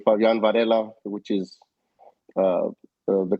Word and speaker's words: Fabian Varela: said it correctly, the way we should say Fabian Varela, which is the correct way to Well, pronounce it.